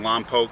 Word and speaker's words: Lompoc: Brian Loring, Loring Wine Company, Pinot Noir extraordinaire, based in Lompoc, California. These are his wines. Thank you for pronouncing it correctly, by the way.